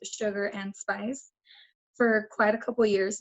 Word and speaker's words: Sugarxndspice: identity around myself as sugar xnd Smiley's pronounced sugar and spice for quite a couple